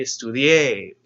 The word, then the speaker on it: estudié: If it's yo, it would be estudié. I, E with an accent on the E.